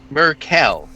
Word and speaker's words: Merel: head it's strange um master merel yes is that the right pronunciation yes yes it is merel yes merel merel um